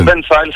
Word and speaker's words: Banfile: Moi, j'ai dit Benfield. Est-ce que je suis dans le juste? Benfield, c'est très bien. Benfield, c'est, ou tu peux dire Benfield, mais Benfield passe très bien.